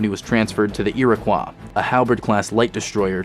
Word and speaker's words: Iroquois: until 2552 when he was transferred to the Iroquois a halberd class light Destroyer to serve as